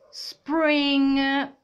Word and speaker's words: spring: spring state attenti ragazzi anche quando c'è ng alla fine ovviamente la g non si pronuncia spring quale questa stagione chi